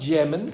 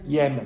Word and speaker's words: Yemen: And the pronunciation of this is not Yemen. It's what? Yemen. Yemen.